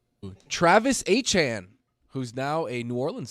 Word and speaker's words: Etienne: So it going up is Travis Etienne. So it would be like A C H A N E. And that's how you always said Travis Etienne.